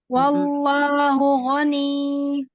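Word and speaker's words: غَنِيًّا: Wallahu ghani. Jangan dipanjangkan jadi mat. Tapi ini berhentinya tuh kayak NIYY.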